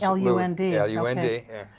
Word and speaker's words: Lund: Lund, the boat, but they pronounce it L-U-N-D, Lund.